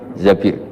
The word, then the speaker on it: Zabir: Bin Zabir di di hadis ini bukan bacanya bukan Zubair tapi Zabir Abdurrahman Bin Zabir tapi